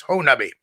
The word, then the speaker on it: Honobia: It was known as the Siege of Honubby, or for that, I'm pronouncing it like the locals. It's spelled like Honobia, but it's pronounced by the locals as Honubby.